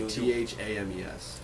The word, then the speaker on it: Thames: THAMES. That's Thames. That's why I thought Thames for short, but I believe your pronunciation though.